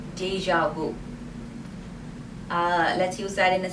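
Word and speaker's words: déjà vu: pm the next word is deja vu it's pronounced deja vu vue the pronunciation is not very tricky but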